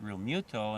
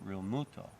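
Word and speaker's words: Realmuto: phillies catcher real muthal you hear some announcers pronounce it real muto and other announcers call it real muto i just call him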